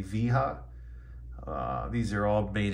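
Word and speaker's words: Wera: T8 which is here these bits are by Vera which is spelled w-e-r-a I also recommend weha or I guess it would be viha uh these are all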